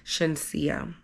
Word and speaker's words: Shenseea: It wasn't Shania, it was actually Shenseea.